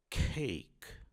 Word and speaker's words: cake: Então você não vai dizer cake e sim cake.